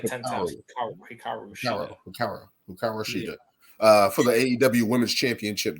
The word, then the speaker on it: Hikaru Shida: we can get into Toni Storm first and Hiraku Shida. Shida. Hikaru, but Hikaru Shida. You gotta say it like 10 times. Hikaru Shida.